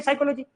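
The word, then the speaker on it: psychology: ऐसा नहीं होता अच्छा साइकोलॉजी की स्पेलिंग क्या होती है पीएस वाई से स्टार्ट होती है साइकोलॉजी है अभी साइकोलॉजी साइकोलॉजी यही पता नहीं पड़ रहा।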